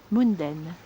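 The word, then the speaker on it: Gmunden: G-Munden? Munden. Spelt with a G at the front.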